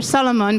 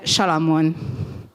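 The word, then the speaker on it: Salamon: SZ is pronounced in Hungarian as a S, so but the S at the beginning is pronounced as sh. So I am listening to Solomon, but apparently I should be called Shalamon.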